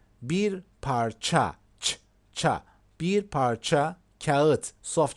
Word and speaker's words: kağıt: Bir parça kağıt, soft G.